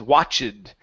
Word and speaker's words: watched: So right now what you're saying is watched. Okay, the E does not make a sound in that word.